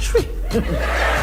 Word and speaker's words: Twi: African languages thank you it's spelled Twi but they pronounced tree around good language and